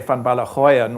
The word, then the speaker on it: van Ballegooijen: Australia and I say fanala hoan which is more of a South African way of pronouncing it um I always felt